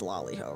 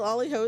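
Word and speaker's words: Lali-ho: Liho is cute. It's L A L I is how it's spelled cuz it's like Lafell loiho.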